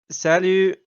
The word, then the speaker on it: salut: out uh, a polite salut. You know, casual French hello. You gotta yell yoo-hoo. No, salut. Same amount of Uh, syllables, ends in the same sound, but it is French and therefore superior.